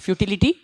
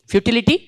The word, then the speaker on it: futility: futility of war and i t y words how it should be pronounced futility third syllable from the from last third syllable from the last so where the stress should be futility futility correct idy futility of War